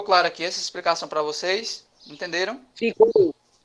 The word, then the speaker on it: você: Na palavra você, qual é a sílaba tônica? CIE. C e E, muito bem. Essa sílaba tônica aqui, Arthur, ela é a última.